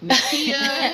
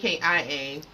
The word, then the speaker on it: Nakkia: drugs or something, because she gave me 2 K's and an A, and that's not really Nakia. It's not, and nobody pronounced my name right, because it's Nakkia. So I either get Nakaya or Naka.